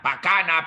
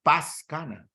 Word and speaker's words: Pascana: eso es fonético o cuando omiten la s dicen la pascana pacana pacana pacana pacana no es es Paz Cana Pero qué pasó desapareció